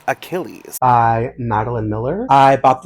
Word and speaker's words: Achilles: Correction, it's pronounced Achilles by Maline Miller.